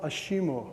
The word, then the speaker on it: ASIMO: this is also disappointing asimo in japanese is pronounced ashimo which happens to mean